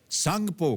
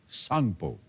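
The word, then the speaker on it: Tsangpo: ब्रह्मपुत्र का उद्गम जो है वो तिब्बत चीन में है और वहां इसे सांगपो कहा जाता है। सांगपो यानी कि टी एस ए एन जी पी ओ इसकी स्पेलिंग है।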